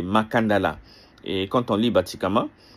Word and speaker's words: Makandal: locuteurs du français qui ont francisé le cas en C et euh ils ont avec la prononciation des des locuteurs du français, ils ont perdu le segment final A pour donner makandal. Mais sinon c'est makandala.